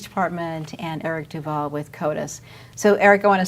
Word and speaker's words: CODIS: the Denver Police Department and Eric Duvall with CODIS so Eric I want to start with you